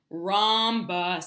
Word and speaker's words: rhombus: rambha rumba rumba rumba rhombus this is hard our H the H is silent rhombus they're gonna that's gonna